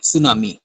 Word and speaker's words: tsunami: इसकी स्पेलिंग आप लिख लें, TSUNAMI, सुनामी, ठीक है।